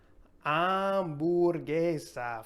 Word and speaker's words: hamburguesa: Next, we have hamburguesa for hamburger. This is a fun one. Hamburguesa. And it's another one where we're not going to pronounce the H there. It's silent.